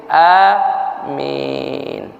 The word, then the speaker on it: amin: Itu sebabnya dibaca panjangkan sedikit amin.